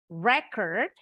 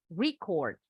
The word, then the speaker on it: record: Ada record, ada record. Kalau record itu artinya merekam. Tapi kalau record itu kata benda.